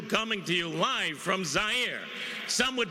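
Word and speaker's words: Zaire: everyone Howard coel coming to you live from zier some would pronounce it zir they're wrong it got big laughs and then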